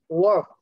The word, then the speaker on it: work: Từ work này là âm ơ trong tiếng Anh.